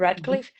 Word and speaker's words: Radcliffe: Radcliffe?